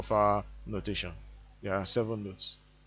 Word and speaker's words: fa: m is pronounced me f is pronounced far s is pronounced so